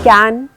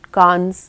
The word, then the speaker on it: Cannes: कैन एक ऐसा festival है जहाँ पर अगर आप कान्स बोल दोगे तो आपको सूट में भी टूरिस्ट समझा जाएगा।